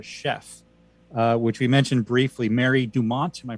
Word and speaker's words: Mary Dumont: Which we mentioned briefly, Mary Dumont. Am I pronouncing that correctly?